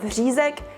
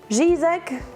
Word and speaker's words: Řízek: Children take a while to learn it, but if you're trying to mimic that sound, maybe opt more for a Ž sound. So instead of Řízek, you would say Řízek, or you could just say Schnitzel.